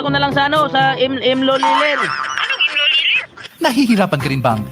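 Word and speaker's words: M. Lhuillier: Ay, padala ko na lang sa sa Loliler. Nahihirapan ka rin bang bigkasin ang brand name ng M. Lulier? English speakers commonly pronounce it as Lulier. But for Filipinos, mas madaling ibigkas ang Luilier.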